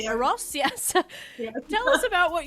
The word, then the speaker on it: Eros: the co-founder of a charity as well called e-r-o-s is it pronounced ross yes tell us about what you what you're